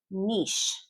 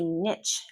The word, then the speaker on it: niche: Niche. I hear a lot of students say niche, and that's just not correct. It's niche. Niche. This is a French word. We pronounce French words in the French way.